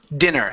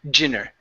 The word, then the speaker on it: dinner: Um, oh yes, dinner. So, here you pronounced a Portuguese D saying dinner. Dinner. Instead of dinner, it's D. Nice and hard.